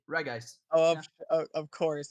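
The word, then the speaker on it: Regice: okay that's the only it's a hard G reg ice oh of course it's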